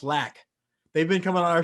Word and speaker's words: Lac: doc spiders and they never told me it's pronounced lack they've been coming on our show for a